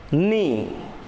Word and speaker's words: knee: For example, nice, knee. K is not pronounced here.